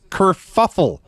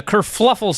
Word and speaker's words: kerfuffle: nobody correct brian when he mispronounces kerfuffle he adds an extra l for no apparent reason nobody corrects because nobody cares right he does that's true and besides a kerfluffle sounds even better than